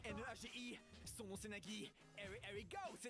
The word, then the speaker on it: Nagi: En tout cas moi je sais bien prononcer Nagi. N a g I son nom c'est Nagi.